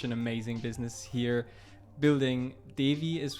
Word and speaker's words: Devï: you started such an amazing business here, building Devï is how you pronounce it, right? Yeah, Devï. Well, you can pronounce it how you want, but I say Devï, yes.